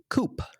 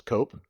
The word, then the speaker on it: coup: I just learned it was pronounced coupe. What did you think it was? Cope.